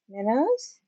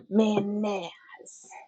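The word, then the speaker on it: Mannaz: All right, so this is Manz. Minnows. Manaz, I'm trying to work on that.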